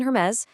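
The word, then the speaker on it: Hermès: Just remember, silent H in Hermes, that tricky nasal on in Vuitton, the hard G in Gucci, and of course, that surprising U sound in Bulgari.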